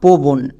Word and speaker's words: পবন: পো বন দেখ পো পো এর পরে ও সাউন্ড পাচ্ছি। বই এর পরেও পাচ্ছি। বাট পবন দন্তন এর পরে কোন ও সাউন্ড পাচ্ছি না।